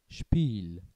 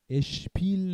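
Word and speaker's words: Spiel: سوپی هستش که کنار هم دیگه باشن چجوری تلفظ میشه؟ شپ شپیل شپیل شپورت شپورت شپراخه شپراخه. نمیگیم اش شپ شپیل اشپیل، نمیگیم شپیل شپورت شپراخه.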